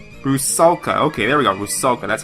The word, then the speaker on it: Rusalka: I can't even pronounce the name. It's like Rusalka, something like that? Rusalka. Okay, there we go. Rusalka, that's how you call it.